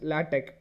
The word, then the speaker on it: LaTeX: lat though it's looks like latex it's not latex you have to pronounce it as latte okay it kind of ends with a k